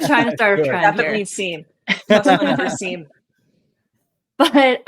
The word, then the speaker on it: SIEM: So for a company that like a lot of SIEM, I call it SIEM. A lot of people in the industry call it SIM.